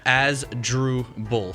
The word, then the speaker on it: Asdrubal: now is Asdrubal Cabrera even though he's he pronounces the unusual up drool yeah as drew bull Asdrubal they're very there we go there we